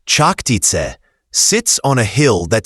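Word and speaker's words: Čachtice: The castle of Chaktake, pronounced Chaktit, sits on a hill that still overlooks Slovak villages today.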